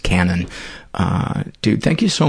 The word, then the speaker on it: Cannan: michael's last name is spelled c-a-n-n-a-n even though it's pronounced canon uh dude thank you